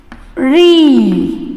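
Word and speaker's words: ऋ: देखिए बच्चों, स्वर अ, आ, ई, ऊ, ये है री। इसे क्या कहते हैं हम? री। इसका उच्चारण री होता है।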